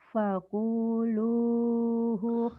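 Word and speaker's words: فَكُلُوهُ: Fakuluhu khamim. Fakulu, bukan Fakul. pakul. Iya. Fakulu. Kalau kamu tadi Fakuluhu. bacanya fakulu, ku-nya pendek, Fakulu. yang panjang lu-nya.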